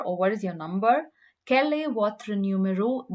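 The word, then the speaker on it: quel: is feminine it's q-u-e-l-l-e but then it's only in the written form that they had different spellings and this is why uh it's quite easy if you just want to learn to speak french because then you don't you forget about the the spellings and you just need to concentrate in the pronunciation which is the same for both words so it's so let's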